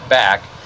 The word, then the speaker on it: BACC: It is not BACC charities. It's a common misconception. I guess with all the capital letters up there, people assume it's supposed to be pronounced as the acronym, but it's actually the word back.